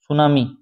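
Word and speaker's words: tsunami: answer होगा यह क्या सुनामी स्पेलिंग थोड़ी चेक करना आ सकता है टी साइलेंट लेटर है य पर सुनामी पूछा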